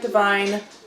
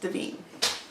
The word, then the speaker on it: Devine: So it's it looks like divine, but it is pronounced Devine.